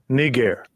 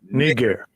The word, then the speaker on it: Niger: So Acts 13:1, Niger would have been pronounced nigger in the days of the apostles.